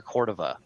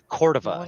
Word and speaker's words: Cordova: so in New Mexico it's pronounced Cordova, but out here in Colorado it's Cordova. So it just depends on where you're from, I guess.